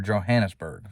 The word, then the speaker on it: Johannesburg: And we would drive 12 hours north to Johannesburg, all right, or Johannesburg for all of us Americans and how we pronounce it.